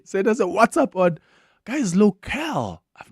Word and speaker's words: WhatsApp: who get annoyed with people that say what's up that's ask my question it's WhatsApp this is T City then